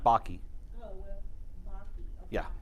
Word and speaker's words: Bakke: His name is, it's pronounced Baki.